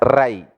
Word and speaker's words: Rai: You should pronounce as Rai, riches.